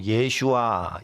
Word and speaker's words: 예슈아: 구원이라고 돼 있지 않고 예슈아 예슈아 예수님의 히브리어 발음으로 돼 있어요 그리고 만국 중에 그